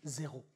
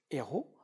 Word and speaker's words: héros: ou la liaison consonne-voyelle, parce qu'on ne prononce pas ici la cendre des zéros. On prononce la cendre des héros, parce que nous avons ici un H aspiré.